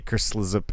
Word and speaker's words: Kerslzp: You can also find Phil on Twitch under the name Kerslip, which is KERSLZP. I don't really know how it's pronounced either. I say Kerslip.